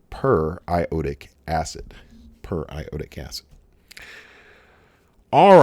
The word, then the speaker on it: periodic acid: look at that and you may think periodic that looks like that should just be periodic acid because it looks like the word periodic like we have in periodic table but this is properly pronounced per iotic acid per iota gas all